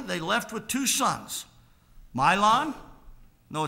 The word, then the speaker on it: Mahlon: Elimelech and Naomi, they left with two sons, Mahlon. No, it's M-A, but it's spelled M-Y is how it's pronounced. Mahlon and Chilion.